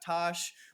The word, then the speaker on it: Taash: full of millennials and drop the name Tosh, everyone's going to immediately go point out. Okay, Like, this will kinda help. hack. It won't, but this will help. Taash is how it's spelled.